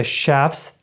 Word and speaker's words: chef's: Тут далі у нас є chefs, specials. У нас тут ці дві букви ch зазвичай читається як чи, так? Але в даному випадку ми читаємо ш.